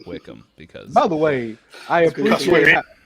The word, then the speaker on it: Wycombe: you a heads up wickham is not spelled how you think it's spelled how was the spell tanner w-y-c-o-m-b spelled wycombe but they say wickham because by the way